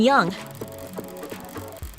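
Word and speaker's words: Jung: of Android Futures Helen young is that how you pronounce that you don't actually pronounce the J right yes yes yes okay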